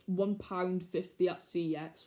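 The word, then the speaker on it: CeX: one pound fifty at c x which i know how you actually pronounce the shop i'm not saying it it's cx not the other word all right all right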